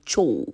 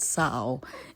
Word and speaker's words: Tso: So it is spelled tso. So the guy in me will certainly say cho. You know what I mean? Yeah. But the Chinese man will call it sao.